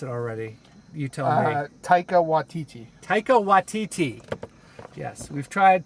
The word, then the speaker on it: Taika Waititi: I forget how to pronounce it already. You tell me. Taika Waititi.